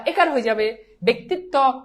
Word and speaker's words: ব্যক্তিত্ব: হয়ে যাবে হয়ে যাবে ব্যক্তিত্ব রসিকার আছে এজন্য এই জফলা একার হয়ে যাবে শেষ এবার বলো এটা